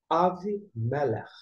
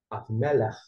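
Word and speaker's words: אבימלך: Mas aqui, a pronúncia é Avimelech. Avimelech.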